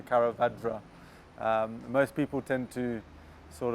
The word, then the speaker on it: Karavadra: Yeah, to pronounce it, obviously it's Karavadra, is the way that you would say it with the Indian accent. But it's there's no ifs and buts about it. It's just the way you say it. It's the way it's spelled is the way you say it. So Karavadra.